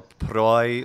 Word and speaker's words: proelium: Yeah, or proi, like English boy, proelium.